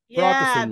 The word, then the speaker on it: Protestant: in my volume and I need to go high higher in my pitch and you just did that thing where you used to do and you're doing two out of three but you're going lower in Pitch right a Protestant Protestant Protestant there we go offered support to the